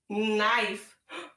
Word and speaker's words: knife: That's the silent E that makes that I go long. Yep, so we have N, I. What word? Knife.